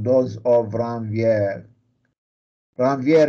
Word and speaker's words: Ranvier: called those of ramvier ranvier is is a french scientist so whoever likes to